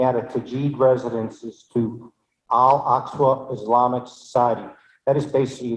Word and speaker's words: Al-Aqsa: Yes, if I may, before I vote, I just wanted to say that the pronunciation is Al-Aqsa Islamic Society. I know this because my graduate from college, I was at the school.